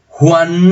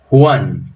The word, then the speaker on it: Juan: Juan no lleva tilde porque es monosílabo, el acento está acá. Juan, el acento está en la abierta.